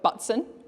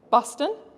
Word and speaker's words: Butson: of your names uh I have a last name of butson which you you're allowed to laugh I heard little Chuckles uh no one usually wants to pronounce like that so I used to get buston or I'd pronounce pretend